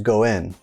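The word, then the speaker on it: 五円: is this 5y m 5 en in Japanese is pronounced to go in and the reason that this coin is considered most favorable is due to the fact that the word go in sounds exactly the same as go in which is a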